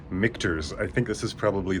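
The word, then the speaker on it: Michter's: Now, it's pronounced Mikers. I think this is probably the most mispronounced brand of whiskey except for the Scotch whisies which are difficult to pronounce, but Mikurs. Think of Michelobs.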